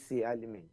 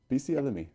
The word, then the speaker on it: Bisi Alimi: Is that how I pronounce it? Yes. I got it right? It's Bisi Alimi. Bisi Alimi.